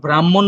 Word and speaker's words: ব্রাহ্মণ: তো দেখো ব্রাহ্মণ রে বাংলায় তুমি কি কি উচ্চারণ করতেছো, ব্রা, ম, হ, ন। এই যে ম, হ, সেটাই কিন্তু এই যে এই চিহ্নটা, মহ, ব্রাহ্মণ, ব্রাহ্মণ। তো এটার যে ফরম্যাটটা সেটা হচ্ছে হ যোগ ম, কিন্তু উচ্চারিত রূপ হচ্ছে ম যোগ হ।